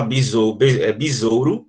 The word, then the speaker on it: besouro: Por exemplo, a palavra besouro, a palavra besouro, a gente não fala besouro, a gente fala besouro.